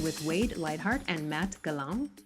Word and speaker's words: Gallant: Today I am speaking with Wade Lightheart and Matt Gallant, or Gallant, Gallant, but French Canadian, so we're going to pronounce it correctly.